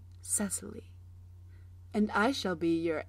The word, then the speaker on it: Cecily: is see II see i.l.y or as phonetically pronounced Cecily and I shall be your amateur high school